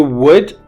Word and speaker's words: wood: front would be down if you want to do wood the front should go up your lips come together the back which is your tongue comes apart from your